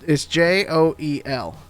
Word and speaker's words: Joel: And you just add an L sound. It's Joe. I don't know how y'all spell Joe, but it's Joel. It's just Joel. So like Joel.